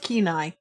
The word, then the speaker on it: Kenai: way the male moves nowadays at night it's pronounced Kenai it might so we were close right Sean